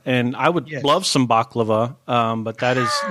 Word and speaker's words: baklava: have said baklava and I would love some baklava but that is not what that is actually Turkish food right Turkish or Greek a hundred a yummy yummy dessert yes so that is definitely what baklava is so is the thing that gsg-9 and